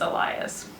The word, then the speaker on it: Elias: So I've been saying Leia, but it's Laya, and instead of Elias, it's Elias. Or Eli, it sounded like she said Elias, so it might be Elias or Elias.